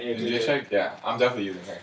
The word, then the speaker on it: Jędrzejczyk: I'm throwing Joanna Jędrzejczyk. How do you say her name? You said it right. Yeah, Jędrzejczyk?